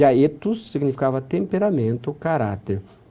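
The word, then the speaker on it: ἔθος: E aqui embaixo era o E breve, o épsilon, a pronúncia era etos.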